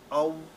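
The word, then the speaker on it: تعوذ: इसका सही जो है प्रोनाउंसिएशन हम सीख लें, और वो है जब तअव्वुज़ है तो उसको ताऊज़ नहीं पढ़ना, इसको ऐसे पढ़ना है तअव्वुज़।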